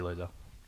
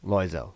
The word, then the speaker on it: Loiselle: I have two versions. Yeah. Loiselle and Loiselle. Yep, I've heard those. I just say Loiselle. Loiselle. Yeah. Okay. It's a French name that I pronounce the most English way possible.